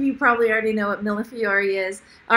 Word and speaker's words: millefiori: Millefiori. Millefiori. Okay. Any guesses in the chat? Some of you probably already know what millefiori is.